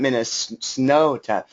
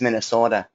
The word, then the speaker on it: Minnesota: Now, Susan, you're saying it wrong. It's not Minnesota. It's Minnesota.